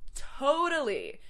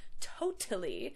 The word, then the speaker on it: totally: Next, totally. So again, that middle T turns into a D sound. It's not totally, it's totally. Totally. That stress on the first syllable too.